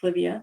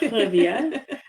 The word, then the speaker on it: Clivia: Um, and her it's pronounced Clivia, not Clavia, it's Clivia.